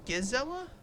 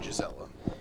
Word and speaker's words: Gisela: how he's pronouncing it is it Gizella no it's a hundred percent Gisela i pronounce it like Gisele Bundchen yeah Tom Brady's wife